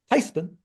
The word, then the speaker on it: Theismann: We're German by heritage, and called my grandmother. I said, Granny, they want to change the pronunciation of our last name from Theismann to Theismann.